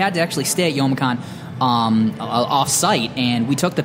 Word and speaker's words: Youmacon: It looks like Youmacon. You're the quinoa of conferences, is what I'm getting out of this. Yeah. It's because it's Japanese phonetics. Ah, okay. So the U is silent.